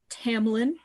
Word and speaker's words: Tamlin: and then there's uh tamlin i got that one okay okay it's not hard to mispronounce um you'd think hamlin he's a fairy okay